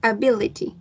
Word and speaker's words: ability: ejemplo, lo que Sería me pasaba con la palabra, a ver, ability, Ajá. ya, eso tiene four syllables. Ujú. Y se acentúa en la segunda sílaba, el stress, ability.